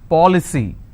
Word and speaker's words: policy: with cy for example policy how many syllables three paw ple c now here the rule says i need to stress on the third from right which means i will stress on paul i just bought an